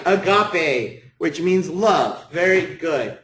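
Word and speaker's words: ἀγάπη: Agape. That's exactly right. Agape, which means love.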